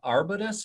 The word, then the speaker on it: Arbutus: You were the chairman at Arbutus. Am I pronouncing that correctly?